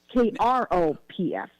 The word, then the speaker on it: Kropf: It's called, it's KNOPF, but it's pronounced Croft, KROPF.